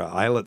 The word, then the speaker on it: islet: about pancreas transplant or eyelet cell transplants as Dr Scott calls them islet cells because that's how they pronounce it in China that's what he says